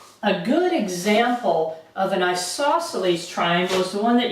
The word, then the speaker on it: isosceles: An isosceles triangle. That's how you pronounce this funny looking word here.